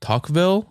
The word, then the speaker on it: Tocqueville: In 1833, just 4 years after the prison first opened, Gustave de Beaumont and Alexis de Tocqueville, I think is how you pronounce it, of France. Tocqueville.